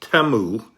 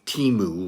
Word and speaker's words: Temu: company name um according to the ads it's pronounced TAMU with a soft e instead of the teu with the long e oh well live and